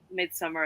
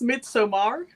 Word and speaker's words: Midsommar: I was just like, this could be like Midsummer in Algiers. I've not seen Midsummer. I don't want to watch it, but I know the kind of the promise. I think it's pronounced Midsommar. Yeah, Midsummer. It's Swedish.